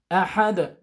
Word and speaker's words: أحد: And when we read this dal, we have to read it with echo sound. قلقلة. أحد.